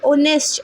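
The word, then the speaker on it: honest: अब यहां पे एच है तो आप बोलेंगे कि ए आना चाहिए। बट नो अगर हम ऑनेस्ट को प्रोनाउंस करते हैं तो इसकी जो प्रोनाउंसिएशन है वो ओ है। ऑनेस्ट ओ की आवाज आती है। ओ की साउंड आती है।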